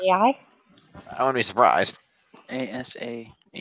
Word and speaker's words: Asahi: ASAHI. Asahi. Yeah, that's how I pronounce it, I think.